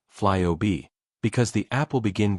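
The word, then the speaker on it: FlyOOBE: Part of the patch involves a rename to Flyub, pronounced Fly OB, because the app will begin giving people control over the OBBE, outof-box experience.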